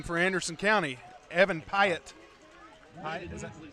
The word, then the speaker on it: Pyatt: Pyatt, is that how you say it? Yep. Number 14, Mr. Evan Pyatt, knocked out of bounds by number 3, Davion Lavelle.